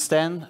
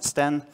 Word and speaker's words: Stijn: so um but yeah my name is stan if you wonder how to pronounce it when you see this just think of this guy that's me just say hi stan and in my spare